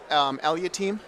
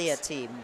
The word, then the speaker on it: Aliatim: How do you You pronounce can call your me last. name? Aliatim. Aliatim? Yeah, it works. Aliatim.